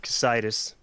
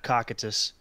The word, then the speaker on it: Cocytus: Horror of Casitis. Definitely not Cocytus. I'll Cocytus it up all the time. I still pronounce it Cocytus unless I'm reminded that that's not what it is.